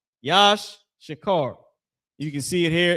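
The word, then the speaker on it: יִשָּׂשכָר: Tribe of Issachar, the so-called Mexicans, that name is Yash Shakar. Yash Shakar.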